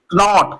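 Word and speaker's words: knot: नॉक क्योंकि के बाद एन आया तो के साइलेंट के एन ओ टी नॉट Connaught लिखा है कनोट लेकिन नॉट पढ़ेंगे क्यों क्योंकि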